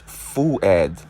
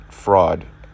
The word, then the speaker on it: Fuad: Yeah, it's Fuad, not fraud.